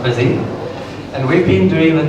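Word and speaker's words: Busii: So I work for a company called Busy, spelled B-U-S-I-I, pronounced Busy, and we've been doing the testing for a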